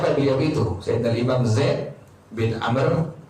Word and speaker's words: Amr: Imam Zaid bin Amr Jadi kalau ada kalimat ini ada waunya itu dibacanya Amr Tapi kalau nggak ada wallah dibacanya Umar tuh begitu namain tuh nandain Ini bacaan dibaca Amr atau dibaca apa Umar tuh kalau Umar itu tidak ada warungnya kalau ada warung makan dibaca Amr tuh jadi jangan tertukar tuh